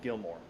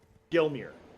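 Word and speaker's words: Gelmir: it up in Mount Gilmore. Gilmer. How the fuck you say that word? Alright, where am I going again? Oh yeah, I remember. Gilmere. I was saying it wrong.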